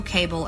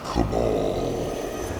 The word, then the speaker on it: cabal: There's a once-in-a-lifetime opportunity to take this global cable of Satan-worshiping pedophiles out. It's pronounced cabal.